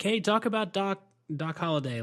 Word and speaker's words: Holliday: "Hey, talk about Doc Holliday. Like, how'd you come up with that guy?" Yeah, did I do it? Did I say Hollywood? No, you said it right.